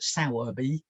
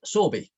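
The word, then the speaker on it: Sowerby: somewhat different um and people that don't know the area call it sourbee like and spin spell it out like that but the locals call it sorby still and that's how christopher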